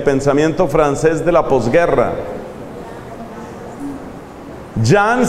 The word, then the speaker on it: Jean: francés de la posguerra yang se escribe jean paul se escribe paul sartre se escribe como se oye entonces federico nietzsche jean-paul